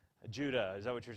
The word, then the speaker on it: Judah: Judah, Judah's an important one, don't we know about Judah? It's the one that creates the tribe of Judah, right? He's an important, not Judas, Judah.